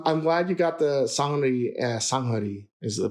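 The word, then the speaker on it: 산후조리: And well, I'm glad you got the sanghari is the pronunciation.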